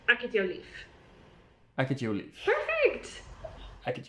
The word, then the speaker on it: ek het jou lief: Akhet jou lief. You can say, this one you can kind of squash the akhet to akhet. Akhet jou lief.